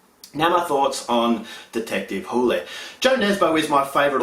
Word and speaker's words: Hole: Initially I thought it was Harry Hole, but it's actually pronounced Hule.